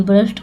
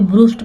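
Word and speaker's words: burst: then they ब्रस्ट out laughing, then मतलब तब, दे मतलब वे, ब्रस्ट आउट, देखिए यहाँ पे ब्रूस्ट पढ़ेंगे तो आप गलत हो जाएगा, लेकिन इसको पढ़ा जाता है, इसका प्रोनाउंसिएशन था ब्रस्ट, तो ब्रस्ट आउट लाफिंग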